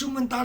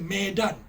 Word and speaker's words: Medan: My father So I was born in Medan City It's another city That's Medan, the capital of Sumatra Its original text is Medan M-E-D-A-N, the Mandarin pronunciation should be Mei Dan This 'Minlan' is pinyin of Fujian dialect Right?